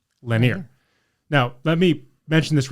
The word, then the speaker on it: Lenire: using a product called linear linear linear spelled l-e-n-i-r-e pronounced Lanier now let me mention